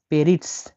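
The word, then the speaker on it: перец: পেরিটস। পেরিটস, পেরিটস। পেরিটস একটা স উচ্চারণ হবে।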